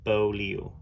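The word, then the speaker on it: Beaulieu: name was Joseph Paul boou well pronounced bolu bolu Joseph Paul anyhow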